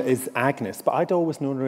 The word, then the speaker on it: Agnes: he names her as agnes um which in elizabethan times would have been pronounced a bit like the french that would have been anyes or anis um but i thought